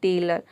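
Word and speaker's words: tailor: जाए तो वहाँ पे ओ को आपको अ प्रोनाउंस करना है। जैसे कि यहाँ पे देख सकते हैं टेलर।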